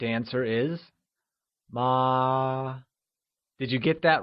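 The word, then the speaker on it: 妈: the correct answer is ma did you get that right ma great so remember mother which translates to ma is said with a constant high level tone also known as the first tone how do we say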